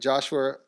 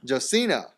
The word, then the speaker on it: Josina: Earlier this week, ESPN reported Joshua how do you say that? Josina.